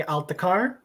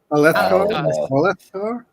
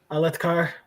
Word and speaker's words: Alethkar: Speaking of, so Elhokar is given charge of freeing Althakar. Please tell me I pronounced that right. Alethkar? Alethkar.